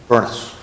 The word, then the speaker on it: Burnes: And in parts of Scotland, that name is pronounced with 2 syllables, Burness. And Robert Burns himself spelled his name with an E until he was 27 years old. So he may have pronounced it Burness. But we don't know that for sure.